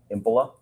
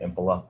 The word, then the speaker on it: Impola: Can you please state your name and spell it for the record? Sure. My name is Impila. H E N R I K. Last name Impila.